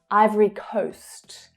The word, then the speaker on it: Ivory Coast: Ivory, Ivory Coast. So this is the O as in go vowel sound.